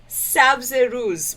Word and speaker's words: sabz: I'm going to explode sabz would be how you would say that word just so you know